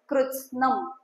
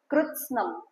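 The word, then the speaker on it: कृत्स्नम्: देखो second line में first word जो है कृत्स्नम, आधा त आधा स, कृत्स्नम।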